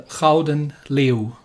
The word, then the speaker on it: Gouden Leeuw: and this is the rouden leo yes the golden lion but if you want to actually properly pronounce it i believe it's called the crowden liu it can be a